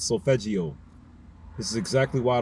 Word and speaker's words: solfeggio: Solfeggio is how you pronounce that word properly. I was saying solfeggio. It's solfeggio.